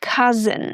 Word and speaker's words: cousin: The O U makes the uh sound, ca, and then the S makes the z sound. The I is just a shwa sound. So we have cousin.